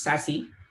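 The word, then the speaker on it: SASE: devices so sassy uh it's s e but pronounced sassy uh sassy stands for secure access is service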